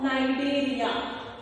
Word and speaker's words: Cnidaria: So let us study about the second phylum, that is phylum Coelenterata or Cnidaria. C is silent, students. C-N-I-D-A-R-I-A, Cnidaria or Coelenterata.